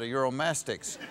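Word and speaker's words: Uromastyx: own mastics that's what exactly what i said euromastics but when you originally got her you thought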